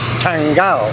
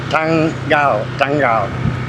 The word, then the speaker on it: Tanggal: And the date is Tanggal. It's one of those words with two G's. There's a lot of words with two G's, and that's how you pronounce the word.